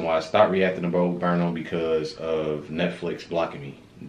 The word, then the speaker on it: Bo Burnham: It's Bo Burnham, right? Yes. Because I kept on saying Burnham in the last other videos, and nobody never told me. You know what I'm saying? Y'all kept on letting me say Burnham.